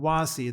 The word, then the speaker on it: WASI: the secret source that what makes this possible is spelled wazi the web assembly system interface was kind of a magic thing.